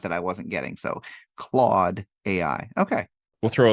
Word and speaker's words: Claude: with Cloud Ai and that's Cloud as in the fluffy clouds in the sky AI nope CL Cloud Claude how do you spell that c l a u d.